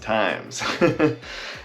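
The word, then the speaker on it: Tijmes: is times and yes there is a J in my last name t-i-j-m-e-s but it is pronounced times anyways I'll see you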